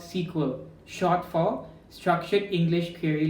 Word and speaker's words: SQL: previously said SQL I know it is actually pronounced sequel but that's how my lecture in foundation pronounced